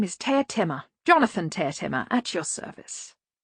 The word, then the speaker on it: Teatime: Susan lined up the syllables in her head. You mean like around 4 o'clock in the afternoon, she said. No, I did say Teatimmer, said Teatime. I spoke very clearly.